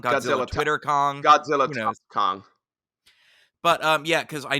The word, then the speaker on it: Godzilla x Kong: I can confirm that the official title is intended to be pronounced as Godzilla Kong the new Empire why' they put the